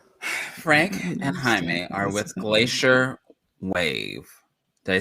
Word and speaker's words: Glacier.WAV: for you um frank and jaime are with glacier wave did i say it right yeah correct okay we spell it weird because we think we're like edgy